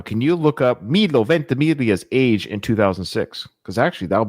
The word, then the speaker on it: Ventimiglia: I'm so proud I know how to pronounce his name. Milo Ventimiglia.